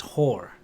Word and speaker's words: Hoare: I used to work with a guy whose surname it's spelled Hoare, but it's pronounced Hor.